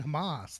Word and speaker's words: Hamas: the terror is the hummus the hummus hummus hummus how do you say it like the dip Hamas like the dip I don't know oh you're saying Hamas like the terrorist organization yeah that's what I'm